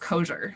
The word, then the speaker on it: Kosior: time absolutely it's okay it's actually pronounced kosher so it's a polish eastern european last name and uh yeah